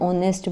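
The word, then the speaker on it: honest: जैसे कि an apple हो गया, एन ऑनेस्ट मैन हो गया। अब आपको पता है कि ऑनेस्ट एच से शुरू होता है। लेकिन हम फिर भी इसमें एन लगा रहे हैं।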